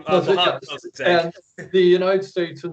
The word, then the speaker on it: Mossadegh: elect their own representative, a guy named Mogadishu. Do you remember how to pronounce his name? Mossadegh. Yes. Mossadegh.